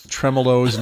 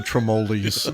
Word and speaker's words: tremolos: would you just tell her it's tremolos, not the tremolis?